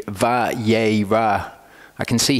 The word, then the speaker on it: Vayera: an a vowel, and the aleph is silent.